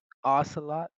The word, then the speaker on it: Ocelot: How do you pronounce that? Module give Ocelot. Ocelot.